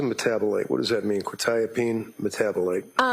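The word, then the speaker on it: quetiapine: Probably mispronouncing this. Quotipene. Uh quitapene. Quitapene and quitapene metabolite.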